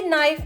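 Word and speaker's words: knife: तुम्हें मैंने कितनी दफा बताया है कि नाइफ में के साइलेंट होता है।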